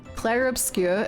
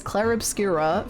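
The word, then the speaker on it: Clair Obscur: I realized I've been pronouncing Clare Obscure as Clare Obscurer for like literally since before it came out.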